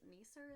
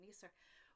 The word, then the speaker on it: nisser: talk about, it's called I think it's a Nisser. I think Nisser is the way that they pronounce it, and they're little little